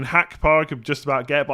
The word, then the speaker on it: Gakpo: gonna happen Never Gonna you're never gonna get it the correct Dutch way it's gonna have to be Van Dyke and gakpo I mean hack Park have just about get